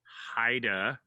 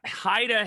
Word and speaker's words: Haida: called the haida people heda haida h-a-i-d-a and it the pronunciation is very very close but not quite exactly the same as haida chandler's last name and so uh every